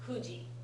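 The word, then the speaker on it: 九時: And when you write 9:00, it's pronounced kuji, right?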